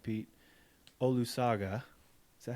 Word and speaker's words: Olusoga: Peter, and I'm going to say this right, Pete, Olusoga.